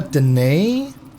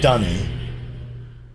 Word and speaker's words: D'ni: Well, I always prefer Deni because that's how I would pronounce that apostrophe, you know. I don't know. It just feels like it's a more natural way of um saying it. But I know that the I know that Ran Miller's preferred pronunciation was um Dunny.